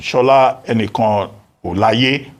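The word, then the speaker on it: Shola Enikanolaiye: Now, as for foreign direct investment, Shola Enikan Olaye, that's the correct pronunciation.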